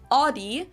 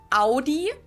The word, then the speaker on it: Audi: Most Americans that I know pronounce it like I just said it, Audi. In German, we say Audi, Audi.